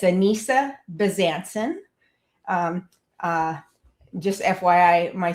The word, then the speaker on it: Anissa Bezanson: So yeah, I answered to anything close to my when people say my name, but it's Anissa Besancen.